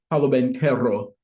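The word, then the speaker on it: Paolo Banchero: Actually, I can actually say his name right, Paulo Banchero.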